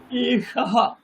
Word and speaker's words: एषः: एष वानरः এষাহ। বিসর্গের উচ্চারণ না করাটা পাপের, করতেই হবে, ভুলে গেলেও আমাকে মনে রাখতে হবে।